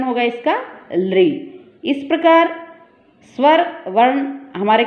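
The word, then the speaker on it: ऌ: इसको बोलेंगे हम दीर्घ रि और ये है लृ। क्या उच्चारण होगा इसका? लृ।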